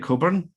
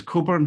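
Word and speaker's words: Cockburn: My name is Coburn, and that's my URL there. I'm on Twitter. I have my own hashtag in addition to the festival one, Strategy Maps. And my name is Coburn, which is the same pronunciation as Alistair, one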